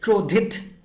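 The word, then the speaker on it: क्रोधित: It's not like krodhit. Don't pronounce like dhit, alright? It's krodhit, ta, not T sound also.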